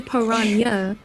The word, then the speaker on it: piranha: piranha first of all they said piranhas so many different ways I heard like piranha I heard piranha I heard piranha so apparently Parana is the is the correct pronunciation oh well I guess